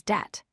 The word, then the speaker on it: debt: The word debt is spelled D-E-B-T, but we say it as det. The B is completely silent here too. Now let's learn about silent L.